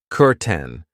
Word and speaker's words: curtain: I know it looks like curtain but we pronounce it curten.